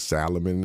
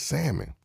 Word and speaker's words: salmon: were down to Mexico they was this Salomon and I know I said look man it's salmon and so hopefully going